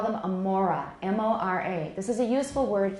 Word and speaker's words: mora: we don't call each of those units a syllable. We call them a mora, M-O-R-A.